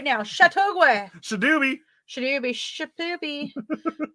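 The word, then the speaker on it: Châteauguay: plays tomoka as living with her children in chattaway chattaway chateauguay chittogway i said it right now chateauguay sudube should you be shipping um quebec hamoka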